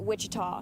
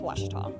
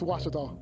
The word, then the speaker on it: Ouachita: university back in texas everybody pronounces it wichita but really it's ouachita washington washington how would you pronounce it baptist university get it right it's water tall people let's watch it all and welcome back to